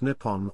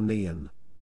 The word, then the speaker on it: 日本: japanese is written using the kanji and is pronounced nippon or neon before was adopted in the early 8th century